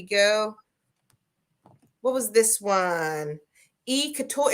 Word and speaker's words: couture: Couture. Is it couture or couture? How do you pronounce that? Couture, couture. Couture.